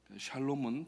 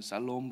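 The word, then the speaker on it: שלום: 예수님의 이름으로 축복하시기 바랍니다 샬롬은 발음을 잘하셔야 됩니다 조금 세게 하면은 살롬 그러면은 조금 이상한 어감이 되니까 아침에 이제 나올 때는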